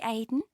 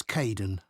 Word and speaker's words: Kaeden: Hi, Aidan. It's Caden.